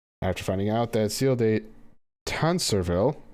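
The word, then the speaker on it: Tancarville: finding out they're sealed a tan servile apparently is how that's pronounced had a hand on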